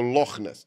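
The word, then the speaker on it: Loch Ness: é loes lo l aquele ch ali é pronunciado da maneira assoprada que nem na Alemanha então é o lochness Então temos aí a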